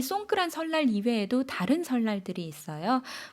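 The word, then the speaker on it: สงกรานต์: 태국식으로 송크란 이렇게 발음하는데요. 4월 13일에서 15일, 우리나라랑 마찬가지로 3일 동안 연휴를 길게 가지고 갑니다. 그런데 태국에는 이 송크란 설날 이외에도 다른 설날들이 있어요.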